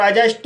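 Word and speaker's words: adjust: और एडजस्ट में डी का कोई साउंड नहीं है। D silent.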